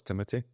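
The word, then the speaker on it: Timothée: that looks incredible so this Timothy shamaly I think that's how you pronounce his name CU everybody thinks it's Timothy it's not it's Timothy the head sculpt is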